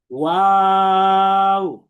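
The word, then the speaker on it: واو: আমার সাথে সাথে সবাই একবার উচ্চারণ করেন 3 আলিফ টেনে, ওয়াও।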